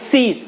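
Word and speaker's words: seize: এখানে stress vowel হচ্ছে ই, এই জন্য এটাকে উচ্চারণ করতে হবে আর আইটা বাদ যাবে। তাহলে সিজ, সিজ মানে হচ্ছে আটকে রাখা বা আটক করা বা ধরে রাখা অথবা কেড়ে নেওয়া।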